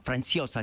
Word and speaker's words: Franciosa: película, un policial con Anthony Franchosa, que era un actor franciosa, si quieren pronunciarlo bien, eh, nada, bueno, no sé qué."